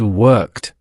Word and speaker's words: worked: Think about the last sound of work. It's which is voiceless. So, what does the rule tell us? Voiceless sound means it. That's right. The correct pronunciation is worked.